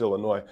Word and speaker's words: Illinois: First off, it's pronounced Illinois. They don't say the S, but welcome other people, especially from out of state, to pronounce it Illinois, which is just hilarious.